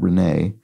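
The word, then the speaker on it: Renée: Renee would have an accent here, speaking of French, to give it the A sound at the end.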